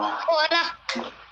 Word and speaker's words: Hola: They don't pronounce the H. They just go hola.